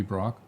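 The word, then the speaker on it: Braque: Bernard Brock maybe Brock spell it again be a br a qu e that's Brock Brock you barbecue is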